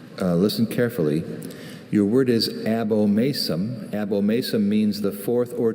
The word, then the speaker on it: abomasum: Could you give me, are there any alternate pronunciations? I have only abomasum.